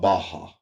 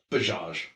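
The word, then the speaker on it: Bajaj: But also in the article it talks about um I just call it Baja. Yeah. like I don't know the second J is silent. Bage.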